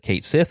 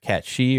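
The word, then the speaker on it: Cait Sith: know Kate Sith and they did pronounce it Kate Sith instead of cat shei or whatever uh and of course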